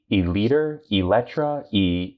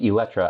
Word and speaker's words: Eletre: It's like, looking at it, you have no idea how to pronounce it. Eletre, and I think Eletre, I think that's roughly what they're going for.